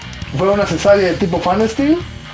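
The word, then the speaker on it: Pfannenstiel: una cesárea de tipo Fanesteel. Se escribe Fanesteel PH y doble N y la chingada. No Fine Style, como otra publicación que vimos en Facebook.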